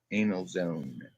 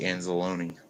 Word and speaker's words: Anzalone: That's how his name is spelled. It's actually Anzalone.